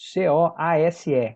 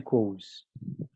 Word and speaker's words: Coase: Olha o nome dele como se escreve aqui, ó, esquisito, C-O-A-S-E, Coase.